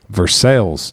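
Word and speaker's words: Versailles: a home base for True Story right there versales not vers Versa Versa not Versa vers to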